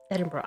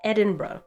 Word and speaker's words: Edinburgh: being taught um Edinburgh I knew it I knew I was saying it wrong I was like it's not Edinburg it's Ed Edinburgh Edinburgh Scotland yes thank you